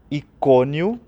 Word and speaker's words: Icônio: Listra, Icônio, com um acento no primeiro O, Antioquia, depois aparecem mais alguns nomes.